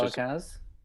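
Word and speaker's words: Calacanis: Jason, how do you pronounce his last name? Calacanas?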